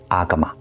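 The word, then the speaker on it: Āgama: 阿含这个词梵语和巴利语发音为阿伽玛，在古代它有多种音译，如阿启摩、阿伽摩等。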